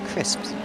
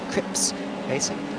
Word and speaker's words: Crips Racing: very difficult to pronounce i won't say crisps but no it's a crips racing as a and that's